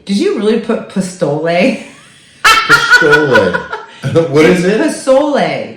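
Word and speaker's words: pozole: Pistole. What is it? Pistole. How do you spell that? P-O-Z-O-L-E. Pistole. Pistole. It sounds like pistole. Or there's an S. You can do it with an S.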